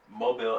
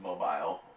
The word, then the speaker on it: Mobile: No, but so Mardi Gras actually started in Alabama, Mobile, Alabama. Yeah, we got shit. We also have NASA there, but so it started in Alabama, Mobile. It's not pronounced mobile. Mobile. It's Mobile.